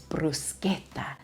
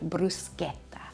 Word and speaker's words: bruschetta: It's bruschetta. Anytime you see the C and the H together, it makes a hard K sound, bruschetta.